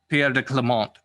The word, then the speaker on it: Pierre de Clemente: all right now the french pronunciation is pierre de clemente now how you want